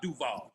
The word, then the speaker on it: Duval: here Duvall Jaguars and you got to say it like that Jonah when you talk about Duval you gotta get big Duval man Duval Jaguars